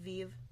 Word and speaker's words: Viv: Viv, Mom said, pronouncing it Vive. Like we all do.